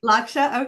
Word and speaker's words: Lakshya: Am I pronouncing your last name proper? Lakshya, yes. Lakshya, okay.